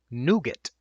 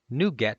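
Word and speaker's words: NuGet: Packages innet ecosystem are added by a piece of software called Nougat.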